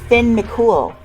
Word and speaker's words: Finn McCool: next is finn mccool no i'm not making it up that's how it's pronounced doi says this design